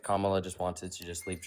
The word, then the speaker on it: Kamala: How do you pronounce it? Kamla. Kamla.